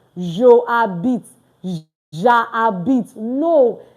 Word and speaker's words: j'habite: Please, it's not Joe habite. No. J'habite. Like ja and bit. That's all. J'habite. Because most times when students are speaking, we hear something like je habite. J'habite.